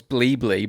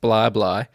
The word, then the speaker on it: Bli Bli: of bly bly i actually thought it was bleebly but i went and did some research and found out it's pronounced blah blah and how do you spell it bli bli